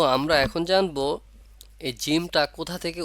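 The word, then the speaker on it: ج: ঠোঁট কখনোই গোল হবে না না হয়ে সেভাবে উচ্চারণ হবে যেমন জিম জিম জিম এখানে ঠোঁট কখনোই গোল হবে না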